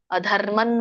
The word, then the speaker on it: ಅಧರ್ಮಂ: ಅಧರ್ಮಂ, ಇಲ್ಲಿ ನೋಡಿ ತತದನ ಇದೆ, ಅಧರ್ಮನ್ ಬರುತ್ತೆ ಆಕ್ಚುಲಿ. ಅನುಸ್ವಾರ ಇದೆಯಲ್ಲ.